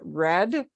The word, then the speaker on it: read: But then we have a lot of oddball things like written, like read just stays, but you pronounce it read.